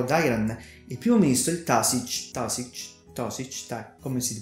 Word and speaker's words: Taoiseach: la ferrovia Yarra Dairan, il primo ministro il Taoiseach, come si pronuncia lui.